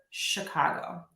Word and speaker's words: Chicago: Just want to give you a little word of caution that the letters ch can also be pronounced as k or sh. And we see this in the word stomach and in the word Chicago.